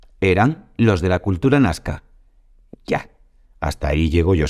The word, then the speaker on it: Nazca: por sí mágico nazca lo escribimos nazca Pero ellos lo pronuncian nazca Supongo que sabrás lo